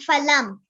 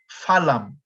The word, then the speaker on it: phalam: So in India, and in more of the modern words, this would be pronounced phalam. Phalam is fruit. But if you want to go for the more traditional Sanskrit, is phalam. Phalam, without the F sound.